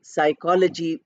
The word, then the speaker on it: psychology: similarly we have psychology we start with PS but we don't pronounce the P we say psychology with sir these are